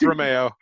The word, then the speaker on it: Reimao: your last name i've always pronounced it romeo but you pronounce it okay let's go with romeo myra amy romeo who's